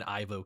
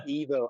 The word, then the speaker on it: Ivo: I'm always in Ivo camp. I feel like he has personally confirmed that it is Evo, but it is Evo. It's Evo.